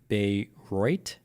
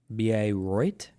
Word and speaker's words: Bayreuth: It's pronounced Bayreuth. Bayreuth.